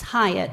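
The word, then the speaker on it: Hiott: And it's Hyatt, like the Hyatt Hotel, but you spell it H-I-O-T-T.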